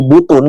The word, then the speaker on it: Butun: Jadi orang-orang Nusantaranya menyebut pulau itu sebenarnya Pulau Butun. Jadi bukan Butun apa, tapi disebutnya Butun atau Butu. Gitu. Jadi kalau pengucapan orang-orang sana sebutnya dulu itu Butu gitu. Itu di awal-awal.